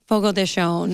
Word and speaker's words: Fogo de Chão: not spanish so um it is pronounced more of like an sh sound and the the d